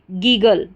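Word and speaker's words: giggle: गया गल, double G एल ई बन गया गल। अगर एक जी रहता तो भी गल पढ़ा जाता। तो देखिए फिर से जी आई जी और डबल जी एल ई गल, गीगल, गीगल, पूरी स्पेलिंग हमारी बन गई गीगल।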